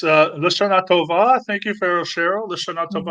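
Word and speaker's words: לשנה טובה: And our friend Pharaoh Cheryl says, how do you pronounce that? It's Lashana Tova.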